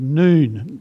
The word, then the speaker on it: Nun: strange little squiggle, and it's called noon. That's the, or N-U-N is the way that we would spell it in English.